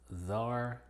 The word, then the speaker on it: czar: Y curiosamente es muda en algunas pocas palabras, unas menos de 10, como czar, indict, and muscle.